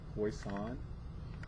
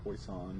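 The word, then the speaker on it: Poisson: to look for that poison not pronounced poison it's poison it's a French name I want to say so poison right here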